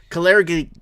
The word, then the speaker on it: Kalergi: How do you pronounce it? Kalergi.